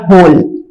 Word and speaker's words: whole: तो हमने इसको H से प्रोनाउंस किया होल। W को लिखा लेकिन हमने इसको बोला नहीं।